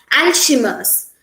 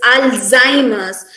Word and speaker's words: Alzheimer's: we pronounce it as ashimus but the correct pronunciation of this word is alzheimer's the here the z sound it must be stressed it must be pronounced as alzheimer's instead of us this word here in